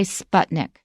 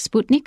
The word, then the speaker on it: Sputnik: the us government now in english we say sputnik sputnik but in in russian it's more like sputnik i can switch back